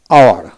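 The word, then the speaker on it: hour: এভাবে এইচ ইউ আর আওয়ার, অর্থাৎ কি এইচ উচ্চারণ হবে না, ও ইউ আর আওয়ার উচ্চারিত হবে।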